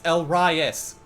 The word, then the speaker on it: Elrias: People have messed up that name numerous times. There's Elrias, then there's rye bread, then there's fucking... terrible pronunciations, but it's Elrias. That's how it is pronounced!